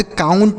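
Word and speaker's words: count: moist ठीक है ओ के बाद यू है तो औ जैसे डाउट काउंट राउंड वाउंड माउंट ठीक है ये तीनों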